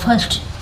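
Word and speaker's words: first: हो जाता है तो उसको पढ़ते हैं cross फर्स्ट एफ आई आर एस टी फर्स्ट इसको पढ़ते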